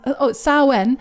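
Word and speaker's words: Samhain: Sam Hain approximately pronounced Oh, Sen.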